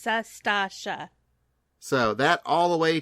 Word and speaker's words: Sastasha: You say Satasha, it's Sastasha.